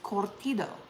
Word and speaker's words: curtido: And when I would say that word, I would normally say cortido. But I knew that was wrong. It just didn't feel right coming out of my mouth. So I asked a friend of mine who is Mexican, how do you say this? And she said, it's cortido. And I was like, I knew it.